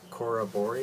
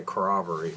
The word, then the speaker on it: Corroboree: is until I know I just looked up how to pronounce this and I can't remember Cora bori Cora bori because I think I wanted to say corroboree with us is Cora bori which is a suite